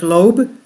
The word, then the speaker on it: Loab: at a disturbing gramas her name is Loeb pronounced like Loeb as she was discovered